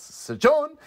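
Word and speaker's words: Sjón: It's S-J-O with an accent. N? Sejon? Sejon! Sejon! S-John? S-John! It's got an exclamation point, so you're supposed to, really emphasize the O. So it's Sejon and Robert Eggers.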